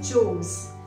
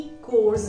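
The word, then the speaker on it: chores: हमारा next word है घर के कामकाज, इसको बोला जाता है चोर्स. स्पेलिंग से हमें ऐसा लगता है कि कोर्स बोला जाएगा. नो, इट्स नॉट कोर्स, इट्स चोर्स.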